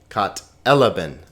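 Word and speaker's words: κατέλαβεν: Kat elaben. Not katalaben, not katalaben, not katalaben, but kat elaben.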